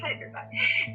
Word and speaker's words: Hyderabad: Yes, Hyderabad.